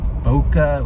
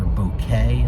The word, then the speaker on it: Bokeh: And then beyond that, there's this whole world of Bokeh or Bokeh, alternatively pronounced Bokeh or Bokeh, which again, even though it's much JavaScript underneath, lets you use familiar Python data structures with instant fancy visualizations.